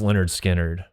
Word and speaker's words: Lynyrd Skynyrd: Lynyrd Skynyrd, pronounced Lynyrd Skynyrd.